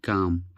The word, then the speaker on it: calm: mother's lament but kept calm. but keep but kept calm. इसमें एल जो है silent होता है. काम काम डाउन, जिस तरह से काम डाउन बोलते हैं.